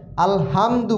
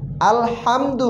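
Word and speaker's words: الحمد: সাথে সাথে পড়বো হা অনেক সময় আলহামদু বলি এটা ঠিক না আলহামদু হবে এই হা উচ্চারণ হবে না আমাদের আগের যে হা টা পড়াইছি সেই হা উচ্চারণ হবে যে হা গলার ভিতর থেকে চাপ দিয়ে আসবে হা আর এই হা উচ্চারণের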